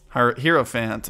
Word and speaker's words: Hierophant: mom fight okay uh hierophant it's pretty good hero fans apparently is how you pronounce it not not get anything in here